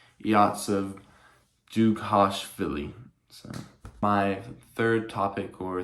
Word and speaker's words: Dzhugashvili: I actually just looked it up, and his name is actually pronounced, or his birth name is actually pronounced Yosef Dzhugashvili.